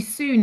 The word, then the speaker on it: soon: But actually soon is the dialect way of pronouncing and spelling sand in Cheshire.